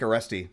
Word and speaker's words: Aresti: I mean, one of the guys that gives me pause is Frank Aresti from, I think it's how you pronounce his last name, from Fate's Warning, or at least formerly of Fate's Warning.